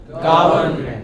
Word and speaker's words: government: Government. Government. Government. Come, break it into syllables. Government. And put the stress on the first.